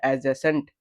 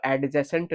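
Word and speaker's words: adjacent: वैसे अगर ए डी जे के बीच में, ए और जे के बीच में अगर डी आता है तो वो साइलेंट हो जाता है। तो वैसे ये भी वर्ड क्या हो गया? तो ये वर्ड आपके लिए हो गया एडजेसेंट। ठीक है। इसको एडजेसेंट नहीं पढ़ा जाता है।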